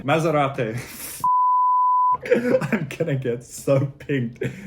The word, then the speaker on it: Maserati: we've got maserati now maserati needs to be pronounced again italian maserati i'm gonna get so